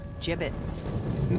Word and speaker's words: gibbets: had some gibbets left over gibbets what it's pronounced jbits are you sure yeah well no one likes